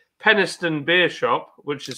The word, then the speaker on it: Penistone: Yeah, but it is available from places like Penistone Beer Shop, which is spelled Penis Tony.